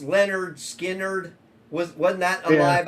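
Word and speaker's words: Lynyrd Skynyrd: It's pronounced Leonard Skinnerd.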